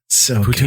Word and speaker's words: poutine: I've never been, but apparently the best place to go is Montreal for poutine. Yeah, I've been to Montreal. That's the mecca of poutine.